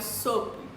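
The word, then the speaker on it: SOAP: e o último método é o sop eu acho que é assim que a gente pronuncia s o a b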